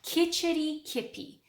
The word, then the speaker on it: Kitchitikipi: It's pronounced Kitchitikipi.